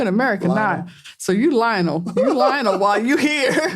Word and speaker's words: Lionel: His name is spelled Lionel. That's how we would say it. Lionel Messi. But they say it like, Lionel.